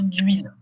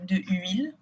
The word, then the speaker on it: d'huile: On dit 1 litre d'huile. On ne dit pas 1 litre de huile, puisque quand il y a un H muet, on utilise le D apostrophe pour faire la liaison 1 litre d'huile.